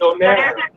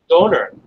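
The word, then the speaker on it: döner: You guys call it donair, but it's not don. You guys have in the East you pronounce it strange. It's doner. Doner. Donair. Yeah, we call it donair, but it's doner.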